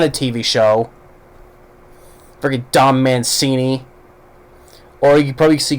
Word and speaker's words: Mancini: TV show freaking dumb Mancini or you probably see kids say fettuccine you know because it rhymes with it yeah Don Mancini go eat some fettuccine